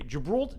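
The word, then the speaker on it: Gibraltar: Or as the locals say, Jibralta, Jibralta, Jibralta, Jibralta.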